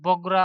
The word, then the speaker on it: বগুড়া: ইংরেজি উচ্চারণ বগরা হলেও বাংলায় কালের বিবর্তনে নামটির পরিবর্তিত হয়ে বগুড়া শব্দে পরিচিত পেয়েছে।